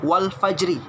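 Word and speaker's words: وَالْفَجْرِ: Tulisannya wal fajri, jangan dibaca wal fajri, tapi wal fajr. Ayat pertama Al-Qadar ayat 1, inna anzalnahu fi lailatul qadr. Yang kedua Al-Fajr ayat 1, wal fajr.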